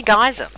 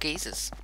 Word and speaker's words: geyser: got a um see i say geyser but apparently they're called geezers i don't know i